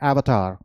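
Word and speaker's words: avatar: हम जब हिंदी में से बोलेंगे तो क्या बोलते हैं? अवतार, राइट? लेकिन हम इसे अवतार नहीं बोल सकते, इसे हम बोलेंगे एवतार, एवतार, एवतार।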